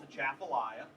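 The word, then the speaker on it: Atchafalaya: it's a big weird name most people can't pronounce it right it's a chapia and we created this overall look and feel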